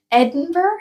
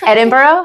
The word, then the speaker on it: Edinburgh: yeah what would be your next one um Edinburg Edinburgh Edinburgh yeah I can't it's okay it's okay pronunciation but I really do want to go